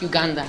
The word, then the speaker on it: Uganda: It's pronounced Uganda. Oh, Uganda.